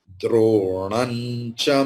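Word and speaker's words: द्रोणं च: Dronam, dronan, dronan cha madhusudana. Here the anuswara will be like nya, because cha is there. Cha, cha, ja, jha, nya. So anuswara will take the pronunciation of nya.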